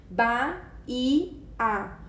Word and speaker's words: Bahia: Se separarmos as sílabas, nós temos ba-i-a. O i ele faz hiato com a sílaba anterior e por isso ele recebe acento.